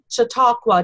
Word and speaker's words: Chautauqua: they're involved with that it's called the Muskoka Chautauqua did I pronounce that right Gary you're doing wonderfully good